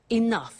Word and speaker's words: enough: doesn't have enough money now this word enough enough it's written e n 0 u ji h the pronunciation is enough what does it mean let